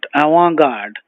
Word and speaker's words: avant-garde: avant-garde a-v-a-n-t hyphen g-a-r-d-e now the t is silent I want God I want means the